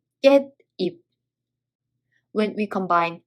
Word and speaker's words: 깻잎: If there's a sa-i-shi-ot and the following letter is e, 시옷 and e both are pronounced n sound. There are two examples. First one, 깨 plus 잎, 깻잎.